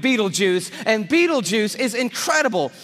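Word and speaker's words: Betelgeuse: heard about this star it's called Beetle geese or Beetle Juice you can pick your pronunciation I'm obviously going with Beetle juu and beetle juu is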